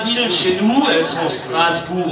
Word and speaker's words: Strasbourg: Alors les principales villes chez nous, elles sont Strasbourg au nord, prononcée Straßburg, capitale de l'Europe, mais certainement pas de l'Alsace, je pense pas.